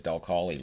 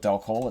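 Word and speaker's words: Dal Colle: Which I heard pronounced at one point as Del Collie, which is why that's what I called him. And then people are like, it's not Del Collie.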